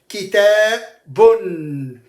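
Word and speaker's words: كِتَابٌ: Listen to how I'm going to read those three nouns. Kitabun. Bun. Bun. Notice the noon sound comes at the end. Kitabun.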